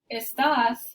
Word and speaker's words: estás: Here we have estás, you are, and estas, this means these.